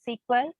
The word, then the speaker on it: SQL: to say about the sequel that is structured query language okay you can pronounce it as equal or sql okay so the main